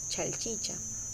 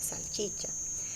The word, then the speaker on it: salchicha: Por ejemplo, algunas personas solemos cometer el error de pronunciar chalchicha y lo correcto es salchicha, o en vez de leche pronunciar leche.